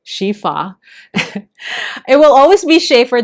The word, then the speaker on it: Sheaffer: on, I have inked it here on this Schaefer, Shifa. It will always be Schaefer to me, however it is pronounced correctly.